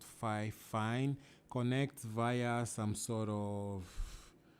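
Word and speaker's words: Fifine: The brand is 5 Fine. I think it's pronounced 5 Fine.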